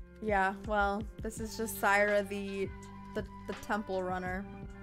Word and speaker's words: Saira: I say your name my name is pronounced cra very simple Cyra boom say it with me now chat Cyra repeat after me say it out loud saigh Sai works too Kelsey